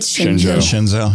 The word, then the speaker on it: Shenzhou: Shenzhou, yeah.